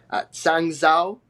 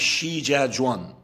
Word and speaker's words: Shijiazhuang: as the manager of, I'm probably going to butcher the name, I apologize, Sangzhou. I think that's how you say it. They've had name changes. Um, No, I think and it's the club is Shijiazhuang. yeah, Shijiazhuang, yes.